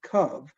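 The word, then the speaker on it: קוה: The word should be kuf vav, kav. For some reason, whoever wrote this book, the biblical writer, put in a hey at the end, which is silent.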